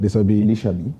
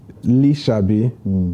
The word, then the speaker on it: Lisabi: And there's this movie you did last year, Lisabi. Did I pronounce it well? Right. Lisabi. Lisabi.